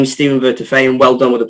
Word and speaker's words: Vertefeuille: and and answers so my name is Stephen vertifay and well done with the pronunciation there Julia and uh 10 out of